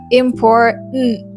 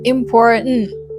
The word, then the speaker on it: important: It's like important. Important. You're just engulfing the T sound. Pronouncing these words with the T sound is correct, but to sound more natural, you just have to engulf the T sound.